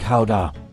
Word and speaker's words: Gouda: Although, fun fact, the locals pronounce it more like Gouda.